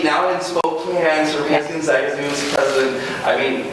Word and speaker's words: Gonzaga: First of all, the name of the university sounds Italian, right? Although I know we have differences on how we pronounce it, so I had to watch the YouTube video, otherwise naturally I would say Gonzaga.